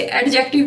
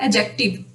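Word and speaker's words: adjective: जैसे एडजेक्टिव भी नहीं होता, एडजेक्टिव।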